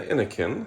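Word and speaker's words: Innocn: portion of the video see the brand i n n o c n anakin so how i always pronounce it this is the 27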